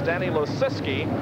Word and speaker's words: Danny Lisi: the final transfer spot I think we pronounce this guy's name about as many ways as we can we get the official word is Danny Lisi and he finishes is